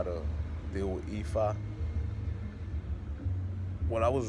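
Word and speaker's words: Ephah: But here's the thing: it's not spelled I-F-A. It's spelled E-P-H-A-H. That's Ifa. So in the past, I started reading up on it, but I was reading up on the wrong Ifa.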